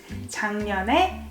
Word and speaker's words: 작년에: So G sounds more like NG. 작년에. 작년에 에 is time particle.